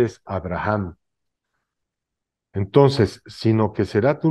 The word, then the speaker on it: Abraham: árabe y en arameo la H se pronuncia como J entonces la pronunciación correcta de Abraham sin h es Abraham pero con h es Abraham entonces sino que será